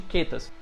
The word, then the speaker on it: chaetas: podem encontrar na literatura como quetas ou chaetas, né? Se escreve desse jeitinho aqui, mas a gente se pronuncia da forma de quetas.